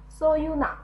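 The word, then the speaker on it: 서유나: n a na，好，连起来 so you na， so you na， so you na，好，这是徐有奈。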